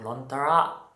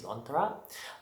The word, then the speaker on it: Lontara: It's called Lontara. I think that's how it's pronounced.